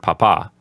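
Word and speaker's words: papá: Papa which means dad notice how the accent is on the second syllable of the word Papa so number seven says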